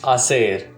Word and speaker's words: hacer: To do is hacer. To do it is hacerlo. H is silent in Spanish.